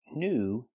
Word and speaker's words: new: take a closer look with the word new we see the most common pronunciation of ew it's pronounced U the long oo sound like food and moon pronunciation new not new